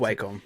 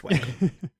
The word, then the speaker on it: Wacom: vector drawings with I didn't even have a Wacom tablet or Wacom, however you want to pronounce It's Wacom. We're Australian. It's Wacom.